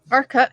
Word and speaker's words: Urquhart: And Urquhart, is that how you say Urquhart Castle? Urquhart, yeah, Urquhart. That's right. That's exactly how you say it.